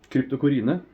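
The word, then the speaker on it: Cryptocoryne: and uh well it's crypto Corine Cryptor crypto Corine Krypto Corina as we say in Norway the Norwegian pronunciations of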